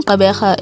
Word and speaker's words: Gqeberha: reason for this is that firstly the name caberha is hard to pronounce especially for those who do not speak